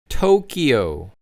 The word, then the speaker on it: Tokyo: Then we have Tokyo, which many Koreans pronounce like a D, but in English you have to say it as a T. So again, we have Tokyo.